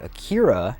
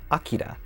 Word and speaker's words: Akira: busy man what's the matter canada everything is pronounced wrong that first video release dub is the reason most people say akira instead of akira which is the way you're supposed to say